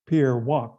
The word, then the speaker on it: Wack: And they had this legendary head of scenario planning, who was my predecessor, called Pierre Wack. It's WACK. It's pronounced Wack, Pierre Wack.